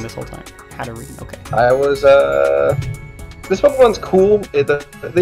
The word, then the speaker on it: Hatterene: So next up, guys, we have Hatterene. Yeah, I think that's how you say that. I was pronouncing it wrong this whole time. Hatterene, okay.